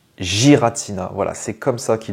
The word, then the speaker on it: Giratina: qu'on dit Giratina ou Giratina et on le prononce Giratina voilà c'est comme ça qui doit être dit